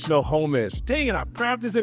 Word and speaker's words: Snohomish: Snohomish. Snohomish.